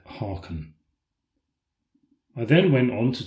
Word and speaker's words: Haakon: Harald in Norway, when I should have said Haakon.